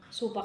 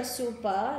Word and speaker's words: super: talking about supa superannuation supa kasi yung pagpronounce nila dito but it's super It's a retirement fund